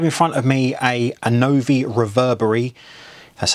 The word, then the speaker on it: Annovi Reverberi: So I have in front of me a Annovi Reverberi, that's how you say it, pump.